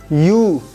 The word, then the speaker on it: ewe: We have here EWE. U, a female sheep.